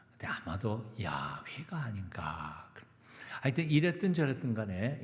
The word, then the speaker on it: 야훼: 그래서 하나님의 이름 야훼라고 하는 이름을 아도나이라고 하는 모음점을 찍어서, 그래서 아도나이라고 하나님의 이름 함부로 부르지 않고 아도나이로 부르다가 보니까 어떻게 부르는지 잊어먹었습니다. 그래서 그것을 아도나이라고 하는 모음점에다가 자음을 붙여서 읽으니까 그게 바로 여호와라고 읽힌 겁니다. 하지만 그건 아닌 것 같다. 본래 이름은 다른 거다.